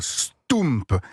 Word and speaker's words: stoemp: Ça s'appelle un stoump et ça s'écrit s t o e parce que o e en belge ça fait ou m pp un st